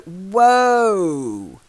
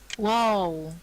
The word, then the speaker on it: whoa: the dogs you go whoa wow yeah like woe is me almost but it means stop whoa Neddy not Wow Wow war is more the sound a baby might make when crying so whoa okay whoa how's